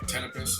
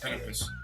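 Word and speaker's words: Ptenopus: The P, anytime the P comes before like a weird letter, Yeah, yeah, like Tenepus, like the little barking geckos, P is silent, straight to the yeah. T. Tenepus.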